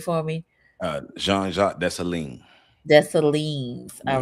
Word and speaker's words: Jean-Jacques Dessalines: And pronounce his name for me. Jean-Jacques Dessalines.